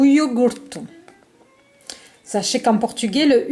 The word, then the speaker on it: iogurte: O iogurte. O iogurte. Sachez qu'en portugais, le U n'existe pas. Lorsque vous avez un U, vous le prononcez par le son OU.